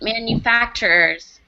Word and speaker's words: manufacturers: his bronchus a foot manufacturers must oh good manufacturers we have an extra syllable in there repeat manufacturers manufacturers good yeah excellent